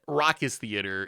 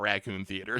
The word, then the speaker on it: Raucous Theater: Just like how confidently I said that, and I think people think I intentionally mispronounce things, and like, I know that Raucous Theater is not Raccoon Theater, so there is like Bugler Rat.